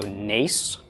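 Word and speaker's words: נס: This would be pronounced the N of the nun, A of the tsera, and the S of the samech. So nes, nes.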